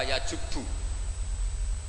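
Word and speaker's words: يجب: Itu bacanya bukan yajibu tapi apa? Yajubu ayaktau.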